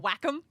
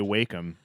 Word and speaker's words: Wacom: thing yeah and illustrator they like you to pronounce it Wacom whack em yeah that's actually how the company wants you to pronounce it yeah since when that's that's the way everyone in the industry calls it yeah all like the news all like the noobs say wake them make a call oh